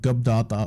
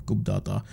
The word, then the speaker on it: Gubbdata: at the releases from gab data or coop data whatever your preferred method of pronunciation is we're gonna start